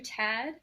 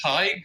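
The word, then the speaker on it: Tadhg: do I call you tad hello can you hear me yes I can hear you awesome well my name is pronounced tight but I don't blame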